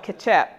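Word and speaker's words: kecap: condiment in Indonesia called ketchup manis. And so it's pronounced, it sounds like it's spelled K-E-T-J-A-P, but it's spelled K-E-C-A-P. Looks like ketchup without some letters in it, but it's called ketchup.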